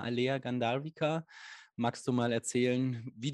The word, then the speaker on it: Aleah Gandharvika: Umso mehr freue ich, dass es jetzt weitergeht mit einem spannenden Interview mit der wunderbaren Alea Gandharvika. Ist es richtig? Ja. Habe ich es richtig ausgesprochen?